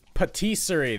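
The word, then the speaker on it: pâtisserie: Patisserie.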